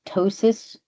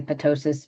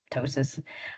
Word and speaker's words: ptosis: I have to say tosis repair so I can so tosis spelled p t o s i uh some people will say ptosis but it's just ptosis and it is means